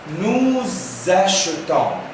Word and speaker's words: nous achetons: Nous achetons. Pourquoi, monsieur Ammar, tu prononces S avec nous avons? Parce que le S entre deux voyelles prononce Z.